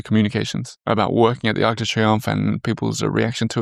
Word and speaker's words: Arc de Triomphe: How's my pronunciation of Arc de Triomphe? Uh well, very well. You say it. Arc de Triomphe.